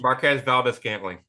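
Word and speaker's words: Marquez Valdes-Scantling: Marquez Valdez-Scantling, right? On the Chiefs. Marquez Valdez-Scantling.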